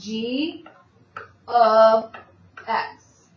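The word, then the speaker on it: g(x): You say this as g of x. That's what how it's said out loud.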